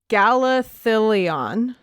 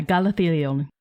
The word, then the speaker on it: Galathilion: And this one is named Galathilion. That's correct. Yeah. I had to read all the syllables. And yeah, Galathilion.